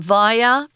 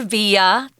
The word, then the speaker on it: via: it happening well it's going via or via they're both correct pronunciations i say via just means by or